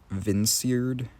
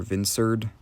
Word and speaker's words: Vinserd: Tangela I changed to Vinsird, or Vinserd, as in like vineyard, because it has vines, and then absurd, and then those second syllables match up, so Vinserd.